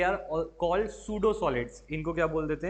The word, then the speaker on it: pseudo: हाँ, P silent है इसमें।